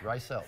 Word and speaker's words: Reiselt: Did I say it right? Reiselt. Reiselt. Yeah. Oh, it was so close.